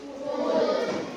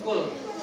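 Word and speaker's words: قل: contohnya ya kita pakai hurufq ya ini Apa bacanya Qul Qul Apa bacanya Qul Qul pakai huruf Kaf kalau ini apa bacanya kul hampir sama bunyinya tapi tempat keluar hurufnya be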